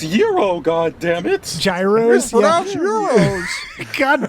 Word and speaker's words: gyros: It's pronounced yurro.